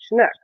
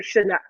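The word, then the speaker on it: sionnach: basically the Gaelic word for fox which is shinook or shinook. So yeah, and it's spelled uh s i o n a c.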